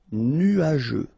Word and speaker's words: nuageux: Final X not pronounced, and then G-E-U, je. Nuageux. correct, dangereux.